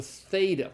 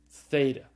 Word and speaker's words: theta: first Ilham this is the theta it's the th sound like in the English word